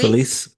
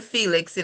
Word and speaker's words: Felice: Felice is from, is it, am I pronouncing that correctly? Felice? Feliz. Yeah, it's Okay. Feliz, like Feliz Navidad. Because I almost Mhm. want to call you Felix.